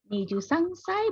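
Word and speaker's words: 二十三歳: Niju sangsai, bener nggak ya? Menurut minasang yang lain bacanya bener nggak? 23 sai itu baca niju sangsai.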